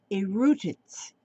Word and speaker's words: E'rutats: It's called Erutats, Erutats. And like I say, it's stature spelled backwards, Stature, if you spell it backwards.